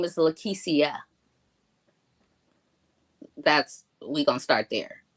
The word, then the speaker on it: Lekecia: peve of mine so I like for my name to be pronounced how it's spelled and not how it just looks it looks like leesa but it's not it's it's pronounced lisia okay lisia so I am go